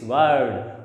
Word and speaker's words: word: Again preceded by a consonant sound, so it is not pronounced and it will be pronounced as word.